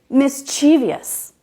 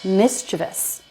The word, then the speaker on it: mischievous: because in our minds we switched some of the letters we think it's spelled like this so we say mischievious but it's not that it's mischievous it's not hard to